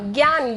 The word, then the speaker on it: Gyan: How do you spell that word? Which one? What you said, Gyan. Yeah. Gyan, Gyan.